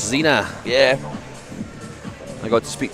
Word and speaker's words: Sina: Apparently it's pronounced Xena, like the warrior princess. Zina.